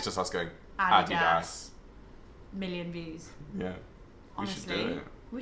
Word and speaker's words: Adidas: Like, we should make just one 5-second video how to pronounce Adidas. And it's just us going, Adidas.